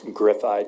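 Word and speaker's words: Griffeye: that Technologies is again I don't know how to pronounce that uh that's gri ey Technologies um since this was drafted they've been uh procured by magnet forensics uh griffi Technologies is specifically a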